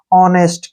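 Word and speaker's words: honest: है वावल है तो एच का जो प्रोनाउंस हम नहीं करेंगे ओ को हम ओ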